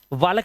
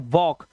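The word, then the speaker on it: walk: जैसे टी ए एल के के से पहले एल आया तो इसे पढ़ते हैं टॉक। टॉलक नहीं पढ़ेंगे। टॉक वालक नहीं पढ़ते। इसे पढ़ते हैं वॉक। तो यहां पर हमने देखा कि हमारा एल साइलेंट हो गया है।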